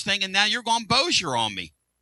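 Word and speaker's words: Bossier: Am I pronouncing that right? Boiseier. Boer. Boer.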